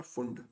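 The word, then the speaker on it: Pfund: बामर पास bracket और फंड English में उसको पी फंड पी साइलेंट होता है इसलिए उसको इ स्पेलिंग में तो पी एफ य एनडी आता है बट बोलते उसको फंडी है तो लाइम श्रेणी हमारी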